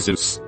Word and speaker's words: Zeus: presentation a kid asked you do know it earth pronounced zeus right jesus christ i'm dead